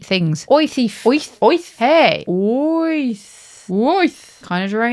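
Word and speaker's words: wyth: 8 is oith. Oi, thief. You're making away with 8 things. Oi, thief. Oith.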